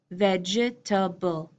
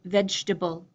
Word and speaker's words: vegetable: Four vowels, it looks like it should be vegetable, vegetable. I'm pronouncing it vegetable, vegetable, three, vegetable.